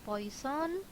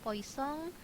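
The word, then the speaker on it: Poisson: diasumsikan mengikuti distribusi Tertentu bisa distribusi Poison atau poisong di ya ini sebenarnya bacanya poisong Gamma Erlang dan lain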